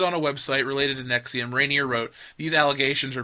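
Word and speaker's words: NXIVM: Keith Rainier leader of the NX IVM pronounced nexium gravity stars Matt played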